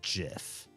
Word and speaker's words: GIF: like me, I can say right off the top of my head controversially and loudly that I will always pronounce GIF as GIF because that's how it was invented.